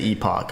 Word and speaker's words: epoch: I learned that that word's pronounced epic, but I think the British people say epoch.